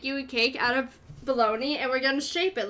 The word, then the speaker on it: Bologna: Or baloney? This is Bologna! It's Bologna! I refuse for baloney to rhyme with pony, because then you can say you have a baloney pony, and no!